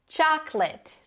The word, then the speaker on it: chocolate: Chocolate. Not chocolateate. Chocolateate. Chocolate. Primary stress is on the first syllable yet again.